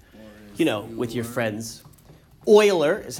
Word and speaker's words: Euler: talking about it you know with your friends oiler is how it's pronounced so from the book G is for